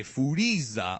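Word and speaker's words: Furīza: a foodies ax so if you watch it in Japanese you hear them say foodies ax or foodies the summer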